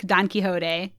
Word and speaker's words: Don Quixote: yeah quit smoking and to read a book don quixote yeah is that how you say it yeah